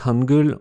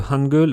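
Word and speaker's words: 한글: Si on prend le nom de l'alphabet, Hangul, on a deux syllabes, H, A, N et G, E, L.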